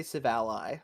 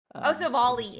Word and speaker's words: Silvally: someone else said, I heard someone say Civalli, and I was like, oh. Silvally is how it is. My bad. There we go. Silvally.